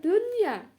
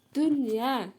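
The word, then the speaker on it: دنيا: Kemudian dunya, tetap nun sukunnya dibaca jelas yaitu dunya ya, nun sukun bertemu ya dalam satu kata.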